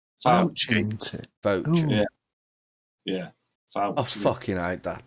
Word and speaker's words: Fauci: Is it Fauci or Fucci? What? Fauci.